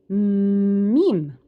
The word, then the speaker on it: م: So to be able to pronounce the letter M correctly, you have to feel the air here in from your nasal.